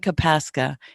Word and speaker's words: Kopaska: It's Kopaska, but it's spelled funny. And That's, not, not Michael. Kopaska, Kopaska.